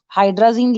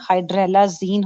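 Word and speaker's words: hydralazine: हाइड्राजीन लिखा हुआ है, स्पेलिंग गलत है, हाइड्रेलाजीन होता है, HYDRA, DRA के बाद LA लगा दो, हाइड्राजीन नहीं है, हाइड्रेलाजीन है।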